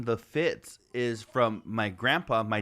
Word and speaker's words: Fitts: So I'm sure my dad, you know, growing up pronounced it Feets, you know, but it's fucking Fitz coming from his dad, right?